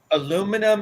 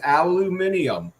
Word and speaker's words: aluminium: don't know aluminium aluminium aluminum aluminium it's no it's aluminium I'm just saying I give you all the pronunciations of it but I don't know that with like a British accent you know like Dave